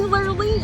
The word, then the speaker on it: Lurleen: It's definitely Lurleen. I told you pronounced it wrong.